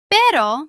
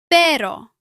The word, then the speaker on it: pero: A single R between vowels is usually soft. For example, pero. Pero means but. A double R creates a stronger rolled sound. For example, perro. Perro means dog. Listen to the difference. Pero.